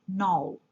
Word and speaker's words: knoll: K is a silent letter in the word knoll.